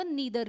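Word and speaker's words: neither: नॉर का अभी बताया आपको क्या होता है, नाइदर, या कुछ लोग इसको नीदर भी बोलते हैं। इसे आइदर और ईदर भी कहा जाता है, दोनों तरीके से आप प्रोनाउंस कर सकते हैं उसको, कोई दिक्कत नहीं होगी।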